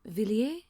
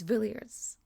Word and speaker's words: Villiers: Del a because I really want to go viler because it's a French name viler but it's vilers I've been told it's vilers that's the British